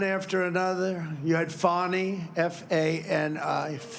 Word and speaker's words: Fani: You had Fani, F-A-N-I, which is usually pronounced Fanny, but she added a little action to it, Fani.